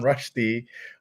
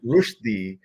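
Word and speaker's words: Rushdie: launched with Salman Rashi who we learned I was mispronouncing his name all this time it is rushi and he made a point to correct me so now you all know that we've been all saying it wrong Salman rushi is what he would like us to say but S I will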